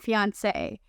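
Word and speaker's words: fiancée: French language fiance and fiance and if you're wondering whether or not these two words have different pronunciations the answer is no when a man and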